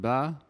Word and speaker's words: ب: hartfield so half alba is very similar to the letter b in english it is pronounced ba and it looks like